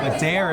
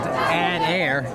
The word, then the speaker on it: Adair: Adair is spelled add-air, A-D-A-R, and that's about what he does when he runs. He adds air to his step as he's really quick.